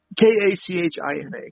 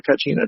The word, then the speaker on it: kachina: had their uh oh god if i could pronounce it right it's k-a-c-h-i-n-a kachina so if i'm mispronouncing that i know